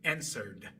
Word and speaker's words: answered: Así que pronuncien answer, answer. Contestar answer. Inmediatamente después coloquen su lengua en esa posición que es para pronunciar una T o una D. Y dejen salir el sonido que salga. Naturalmente va a ser una D.